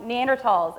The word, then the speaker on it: Neanderthal: And I was, well, actually, I'm a biological anthropologist, and they actually do say Neanderthal with a hard T.